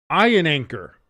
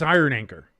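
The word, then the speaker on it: Iheanachor: State offensive tackle Max Iron Anchor at number 21. Max Iron I think it's Iron Anchor. It's spelled weird, but it's I think it would be pronounced iron anchor.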